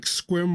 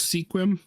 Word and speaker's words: Sequim: names of places um like squim Washington it said was Sequim this was just doing